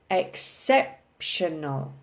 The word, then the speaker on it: exceptional: you look at exceptional we are stressing the SEP exceptional okay so it's the third from the last critical okay critical okay